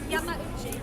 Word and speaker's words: Yamauchi: How do you pronounce it? Yamauchi.